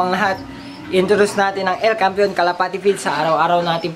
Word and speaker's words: El Campeon: And then El Campeon, ay aliw naman, El Campeon Pigeon Feeds, yun ang tamang pronunciation mga kalapati.